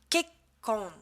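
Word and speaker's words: けっこん: La prononciation. L'écrivain, ça se dira Saka. Journal intime, Nikki. L'échec, Shippae. Le mariage, Kekkon.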